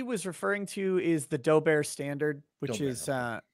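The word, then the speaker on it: Daubert: referring to is the dober standard which is uh which is k-slot d-a-u-b-e-r-t i pronounce it dober because it looks french i don't know but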